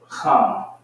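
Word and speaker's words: חם: So, the way you say it in the Hebrew is Ham.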